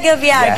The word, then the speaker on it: Kebyar: So it's spelled with a K. That's why, you know, it's spelled with. When you look up the title of the song, it's spelled with a K on YouTube. So I pronounce it with a K, but maybe it is G. It's G.